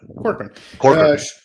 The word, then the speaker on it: Corcoran: How do you say your last name? Corcoran? Yep. Corcoran.